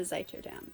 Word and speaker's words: Zuiderdam: The Zuiderdam.